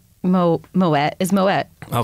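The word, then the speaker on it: Moët: it more way it's moet oh my way well I what's the pronounced name the correct way to pronounce moet is moet well French people pronounce it that way it's French though okay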